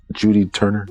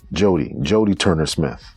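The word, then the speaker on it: Jodie Turner-Smith: Judy Turner? So she's caught a lot of flack. Jody Turner Smith. Jody Turner Smith. You've been saying it wrong this whole episode.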